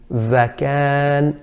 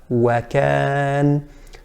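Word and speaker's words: وكان: The second common error with the letter waw is to pronounce it similar to a V and to say vakan, vakan, while the correct pronunciation is wa, wakan.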